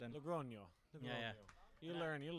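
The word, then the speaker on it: Logroño: or Logrono, I can't not sure how to pronounce it and Logrono.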